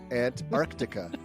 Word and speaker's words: Antarctica: Antarctica. That is the correct pronunciation.